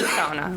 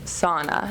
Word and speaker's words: sauna: because I find that if I say sauna, which is how it's pronounced, I get a lot of blank looks. Oh. And then I say sauna, and they say, oh.